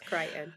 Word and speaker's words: Crichton: Is that how you pronounce his last name? Yes, Okay. Crichton.